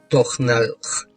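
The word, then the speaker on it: тональ: Я знал, что Таналь произносится как Тохналх, был своего рода охранительным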